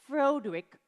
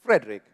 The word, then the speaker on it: Frederick: Oh, then your first name, do you pronounce it Froderick? No, it's Frederick.